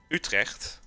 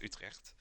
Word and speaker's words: Utrecht: I live in a province called Utrecht, just like the city of Utrecht, or how English people would say Utrecht, because they can't pronounce the which I don't blame.